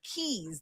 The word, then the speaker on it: Caye: Those are keys. They spell it Caye. In the States, we spell it Key.